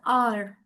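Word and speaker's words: hour: We pronounce it एज़ आर।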